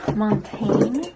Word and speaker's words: Montaigne: Okay, now I'm gonna apply Montaigne, which is apparently how you're supposed to pronounce this word that I've pronounced 3 different ways already on my channel.